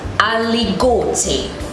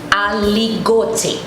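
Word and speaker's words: Aligoté: which is French, is aligote. Aligote, which is spelled A-L-I-G-O-T-E. Now, when we pronounce the I in French vowels, it is A-E-I, A-E. So the I is sounded as E. So it is aligote.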